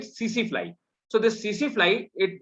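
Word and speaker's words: tsetse: We write TC flies, TSE, and we pronunciate it CC fly.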